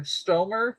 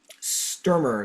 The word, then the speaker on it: Stoermer: Today I have a very special guest with me, Taylor Stomer, or is it pronounced Stomer? Stoermer.